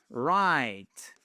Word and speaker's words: write: Write. Le W ne se prononce pas, ça se prononce ça exactement comme write.